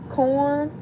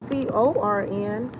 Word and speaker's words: Quorn: Prager's Corn, and they spell it Quorn, but it's just a play on words. Instead of saying Corn, now it's Quorn.